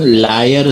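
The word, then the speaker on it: Lyre: There is स्प्लेइंग ऑफ the external and internal क्रॉटेड artery giving लयर sign positive. ये झूठा sign नहीं है। लयर। इसकी स्पेलिंग है एल वाई आर ई लायर sign positive नीचे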